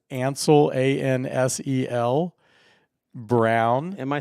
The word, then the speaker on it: Ansel: the way Mike says my name but it's Ansel a-n-s-e-l Brown am I saying it wrong no